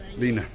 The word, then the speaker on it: Lena: Miss Layla, there she is, all the way from Bulgaria. Greatest braider on the Paphos Promenade. My pronunciation is terrible. Lena.